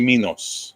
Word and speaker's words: Minos: It's always Minoan and King Minos or Minos. But if it's Greek, it's going to be Minos.